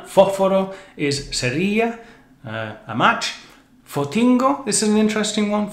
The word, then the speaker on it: Fotingo: Go, another influence from English, but the shortened, strange Canarian pronunciation, Fotingo. Ford T. Go, Fotingo.